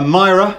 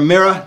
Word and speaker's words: Mira: Guitars and I've got a Myra or a mirror depending on how you want to pronounce that and over my shoulder